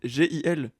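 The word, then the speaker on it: Gilgamesh: Euh ah mais il y a la prononciation, c'est Guil.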